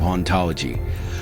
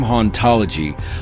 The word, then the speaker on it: hauntology: The term hauntology plays with words to reflect this idea. The H is silent, so in French, the word sounds like ontology, which is the study of being and what exists.